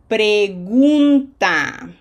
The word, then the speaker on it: pregunta: Pregunta. Okay, that does not sound gun, right?